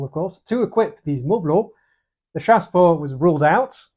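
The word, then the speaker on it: mobiles: a general population they're referred to as moblo uh silent T and Silent s by the way at the end because French and so they needed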